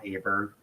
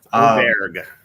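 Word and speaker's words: Åberg: would be Morikawa or Aberg or Auberg, whatever. I can't remember how you pronounce it, but Auberg. Apparently. Auberg. There we go.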